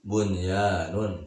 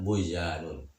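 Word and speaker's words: بنيان: Itu lagi, bunyanun tidak dibaca buyanun.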